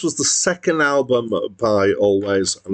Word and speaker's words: Alvvays: band is written alveaise with two v's in the middle but apparently it's pronounced always and they spelled it